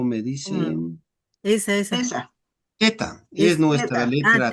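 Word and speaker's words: theta: Y por supuesto, ya, pero sí se pronuncia así, teta con teta.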